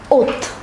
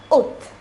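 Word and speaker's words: août: is pronounced as Julie August is pronounced as oath so once again let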